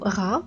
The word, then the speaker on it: Ra: Mais attention, le symbole du soleil placé au début du mot se prononce Ra et signifie le soleil.